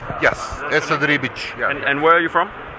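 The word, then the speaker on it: Esad Ribić: So your name is Esad Ribic, am I pronouncing that correct? Yes, Esad Ribic.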